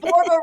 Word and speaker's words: Borba: Borba rhymes with Zorba.